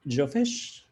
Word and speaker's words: Jofish: I don't know how to pronounce your name, but Jofish, please go ahead and share your question. That is exactly how you pronounce it.